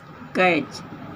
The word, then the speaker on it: catch: उदाहरण देखिए, कैच, CATCH, इसमें टी बीच में है, इसको छोड़ दिया जाता है। CA को कै और CH को च, कैच पढ़ा जाता है।